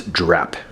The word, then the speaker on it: Drapt: I know it's spelled D-R-A-T-P, but as I looked online, they all say it's Drapt. The T is silent.